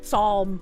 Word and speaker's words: psalm: Psalm. I'm pretty sure that's how you pronounce it, right? It's just psalm. The the P do silent.